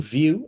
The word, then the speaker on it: View: My name is View, and that last name is pronounced like room with a view.